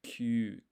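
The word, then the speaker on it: きゅう: Because what I've got is Ki, U. But what you want is a blended syllable sound. So Q.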